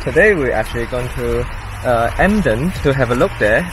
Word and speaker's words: Emden: I heard that somebody said that the local, when they pronounce this city very lazy, they just say So that's the way. But I just like the word Emden. It's like the German word Ende.